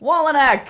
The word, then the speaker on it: Wolynec: I am your host, and today I am with Pete Wolynec. Yeah, you got it right.